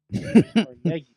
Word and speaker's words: Carnegie: Just label just label one Carnegie for Riz Cargi for me. Carnegie. Yeah, Carnegie. They say Carnegie. We say CargI.